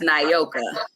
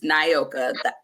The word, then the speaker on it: Naoka: and harder to remember so it's pronounced naoka my name is naoka remember it by the I and the O has the long vow sound that's how I tell